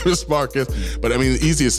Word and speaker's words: Marques: Marcus. My name is Marquez. So You mean it's not Marquise? yeah, it's good old Marcus. It's Portuguese. It's pronounced Marcus in Portuguese.